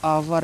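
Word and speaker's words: hour: उच्चारण नहीं करना है ठीक है उसको उसको प्रोनाउंस नहीं करना है आवर लिखा है बहुत से बच्चे इसको हावर पढ़ते हैं ठीक है आवर लिखा है आवर ठीक इसको हमेशा याद रखना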